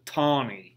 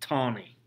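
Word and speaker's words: Taney: his name was roger tawny even though it's it's spelled t-a-n-e-y that they pronounce it tawny this man is dred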